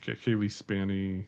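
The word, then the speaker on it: Cailee Spaeny: It's got a huge Kaylee Spanny. I can I never say her name right. So, Kayie Spy. Yeah. Spany. Yeah.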